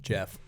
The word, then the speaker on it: Geoff: Jeff. It's pronounced Jeff. Geoff is Jeff, yes.